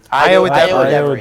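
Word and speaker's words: Ayo Edebiri: How would I pronounce this right? Ayo Idabiri. Iowa Debris.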